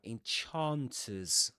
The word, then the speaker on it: enchanters: Okay, so we've got three words containing the vowel sound ah. Ah, enchanters. Chan.